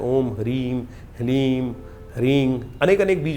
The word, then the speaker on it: ह्रीं: ह के पैर में र है, फिर उसमें साथ ही में ल लगा हुआ है और ऊपर से बड़ी की मात्रा बिंदी। ओम ह्रीम, इसका उच्चारण इस प्रकार से है।